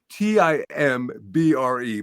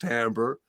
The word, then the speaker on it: timbre: called Timbre which is a in musical terms is spelled t-i-m-b-r-e but it's pronounced Timbre and Timbre is the tone color of the